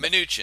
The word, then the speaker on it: Mnuchin: today is Steve Mnuchin predicting, I know I butchered that name. You're going to help me with this, Sean. Mnuchin.